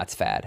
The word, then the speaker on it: FAD: Jay like you say fad is that how you say it I always say fad no it's fad I mean it's all cap so it's kind of an acronym it's fad okay fad yeah Frank Anthony